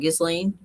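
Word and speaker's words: Ghislaine: Gizlane.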